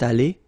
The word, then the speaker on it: allée: Phonetically, it doesn't exist. You don't pronounce it, so you get elle est allée, and then for the masculine form, il est allé. So aller is pronounced the same way, but still you have to write it, okay?